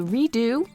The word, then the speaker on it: Rado: It's called the Redo, spelled like my last name, Rado, of course.